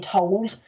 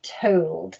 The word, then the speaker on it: told: our words says told i know in gloucester we're used to saying told um but in the queen's english it is told and we do practice